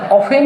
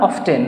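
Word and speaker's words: often: আচ্ছা, অফেন বা অফটেন তোমরা যেভাবে উচ্চারণ করো সেটাই সঠিক আছে, অফেন বা অফটেন।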